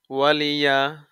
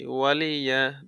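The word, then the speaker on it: وَلِيَ: মতন পড়বেন লাকুম দিনুকুম ওয়ালিয়া ওয়ালিয়া কোন টান নাই কোন কিচ্ছু নাই ওয়ালিয়া দিন আসুন আমরা একটু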